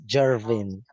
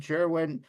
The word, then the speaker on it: Gervin: Sometimes for me I pronounce it as Jervin. Oh Jerwin. Oh just the way Jim says. Okay. Jerwin. Okay. So Harry is wrong and Jerwin is right and also Jim is is right as well.